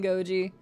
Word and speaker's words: Goji: I'm not mispronouncing your name ever again. Goji. It's not happening.